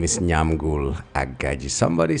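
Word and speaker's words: Nyamgul: My name is Nyam Ghoul Aaji. Somebody said, spell that name all the time when you come. Okay, it's Nyam Ghoul.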